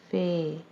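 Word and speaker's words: ف: Fe has this shape and it has one dot on it, and its pronunciation is Fe. Fe has the sound of English alphabet F.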